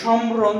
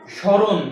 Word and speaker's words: স্মরণ: এই যে মফালা আসছে তো বলছে শব্দের শুরুতে যদি মফালা আসে তাহলে সেই মফালার কোন উচ্চারণ আসে না আচ্ছা এটা যদি উচ্চারণ করি তাহলে কিভাবে উচ্চারণ হয় আমরা কি বলি সম্ররণ এরকম বলি না এটা কি বলি আমরা স্মরণ কি উচ্চারণ করি স্মরণ তাহলে এটার উচ্চারণ কি